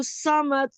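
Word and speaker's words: الصمد: समद नहीं, वही इंग्लिश वाला जो मैंने आपको बताया था ना, सौद के ऊपर जब भी जबर होगा तो इंग्लिश वाली प्रोनाउंसिएशन होगी SAW। सौमद। समद जी, सौ SAW, आई सौ।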